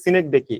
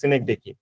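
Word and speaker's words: synecdoche: সার্কুমলোকিউশন এগুলো অনেকগুলো আছে একটা হলো সিনেক ডেডকি এটাকে উচ্চারণ হলো সিনেক ডেকি হ্যাঁ তো অনেকগুলো আপনার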